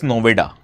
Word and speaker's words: Noida: So the local people can't effectively pronounce Noida. So they pronounce it as Noveda.